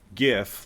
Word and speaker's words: GIF: who you are and it is gif like gift - the T I'm not I'm not I'm not a big fan of the alternate pronunciation so and you missed